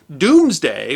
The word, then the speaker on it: Domesday: much about England's past is pronounced doomsday but spelled Domesday do mes da why not because the Normans couldn't spell but because dome was pronounced doomed before the great vowel shift and so the Norman